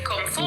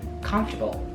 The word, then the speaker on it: comfortable: They want to say every syllable, so they say comfortable. No, I don't say comfortable. I say comfortable.